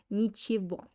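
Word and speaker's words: ничего: spicyba all right sorry nichibo pay attention on how i pronounce this word uh i write nichir gom but i pronounce like but i pronounce this word like in the word okay next slide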